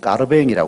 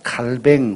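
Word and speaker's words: Calvin: 까르뱅 주의를 합성한 겁니다 칼빈을 요새는 가르뱅이 발 칼뱅 혹은 가르뱅이 발음을 합니다 이분이 프랑스 분인데 그 프랑스시 원래 발음 그대로 쓰는 이게 요즘 우리 한국의 이제 관행이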